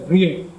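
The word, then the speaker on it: Vrije: and Cornell University, and it is written as Vijay, and it is pronounced as Vrijay University, again in Amsterdam.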